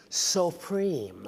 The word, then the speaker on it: Suprême: It's pronounced Supreme.